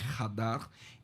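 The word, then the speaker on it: חדר: Este casamento, o noivo preparava um lugar na casa do pai, esse lugar é chamado, se escreve Shadar, mas em hebraico Hadar.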